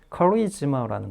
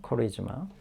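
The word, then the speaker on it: charisma: 그 다음에 커리즈마라는 거 잊지 마시고요. 커리즈마. 예, 발음이 좀 다릅니다. 커리즈마.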